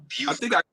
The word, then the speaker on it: Beaufort: It's pronounced Beaufort, South Carolina. Okay, it's Beaufort, South Carolina. I'm sorry. Adrian just made sure that I knew it was Beaufort, not both.